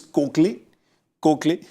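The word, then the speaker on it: Koechlin: of Maurice cin and her is a little confusing to pronounce that she says it's kley kley uh the structural engineer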